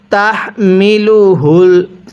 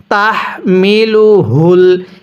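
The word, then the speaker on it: تَحْمِلُهُ: হবে ওলু হারুনা এরপরে তাহমিলুহুল তাহ দেখুন এই হাটা কিভাবে পড়ছি তাহমিলুহুল এই হাটা উচ্চারণের সময় মুখ দিয়ে আওয়াজ করতে হবে আর এই হাটি উচ্চারণের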